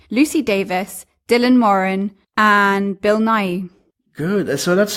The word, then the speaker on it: Bill Nighy: filled Nick Frost Lucy Davis Dylan Morin and Bill Nighy good that's so that's how you pronounce it I always had doubt I realized if there was a T in there so Bill Nighy and now ya know yeah okay very staple